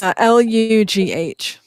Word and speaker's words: Lugh: No, it's Lugh. Okay. But it's pronounced Lu.